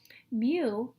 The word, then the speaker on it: mu: to write to write to write as well mu is the Greek letter mu it's pronounced me like the sound of cat makes since the